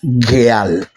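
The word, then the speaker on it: גאל: ¿Cómo se lee esta expresión? Esta expresión se lee geal.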